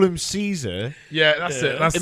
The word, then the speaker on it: Caesar: they call him Ka that's how the Germans pronounce it yeah and more importantly